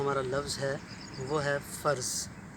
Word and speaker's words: فرض: لفظ ہے وہ ہے فرض۔ فرض کو بہت ہی غلط انداز سے پروناؤنس کیا جاتا ہے، اس کو فرض بھی کہا جاتا ہے، بھائی یہ تو میرا فرض تھا، میں نے ایسا کیا،